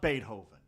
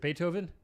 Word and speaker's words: Beethoven: It's a children's book about Beethoven.